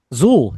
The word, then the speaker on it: XUL: XUL. Is it Zool? Zool, yes. Yeah, we got some from there that are coming here.